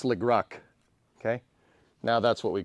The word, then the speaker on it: Leclerc: It's pronounced Leclerc. Yeah. Yeah, dude, all that's going to do is just make me want to say it wrong more. So now it's Legruck.